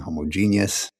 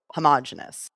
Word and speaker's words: homogeneous: Like that is you're pronouncing each root part correctly. It's just when you Right. put them all together, it sounds more natural to go homogenous. Right.